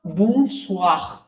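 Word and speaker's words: bonsoir: लेकिन ओ आई जो है व का साउंड देता है। और बूस स्वाख क्या होगा? बन स्वाग नाक से भी आ रहा है बाहर भी जा रहा है।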